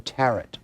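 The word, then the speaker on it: tarot: Now, most witches are very adept at using the tarret, which is our big rhymes with carrot.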